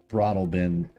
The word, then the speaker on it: Broadalbin: So Hotel Broadalbin, is that spelled phonetically like it sounds? Yes, Broad Albin.